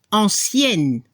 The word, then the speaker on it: ancienne: Ahí sí la pronunciación es diferente entre el masculino y el femenino. Se escucha la última consonante. Ancien para el masculino, ancienne para el femenino. Se escucha la N al final.